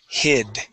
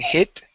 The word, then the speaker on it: hid: Pull your tongue back just a little bit because you're pronouncing a T, saying hit. Okay. We want to say hid.